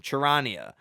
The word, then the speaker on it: Charania: I learned how to pronounce it. Shams. Damn, I don't know his last name. Charania.